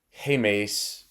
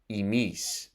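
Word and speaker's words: ἡμεῖς: plural in Greek and the words and erasmium are pronounced hey Mace and Humes respectively but in modern Greek are pronounced exactly the same emis and this can lead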